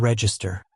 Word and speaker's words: Register: Register. Spelled like the cash register, but you pronounce it re as in reefer.